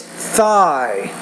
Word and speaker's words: thigh: E Theta e one you're not getting that when you're saying Tha but it's thigh thigh okay you're